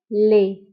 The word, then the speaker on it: lait: le lait كنكتبوه بالت في آخر الكلمة ولكنها لا تنطق le lait ت لا ننطقها تكتب ولا تنطق.